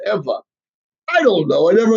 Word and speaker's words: Ewa: is interesting because Eva which would be Eva is actually spell Ewa but they pronounce it Eva I don't know I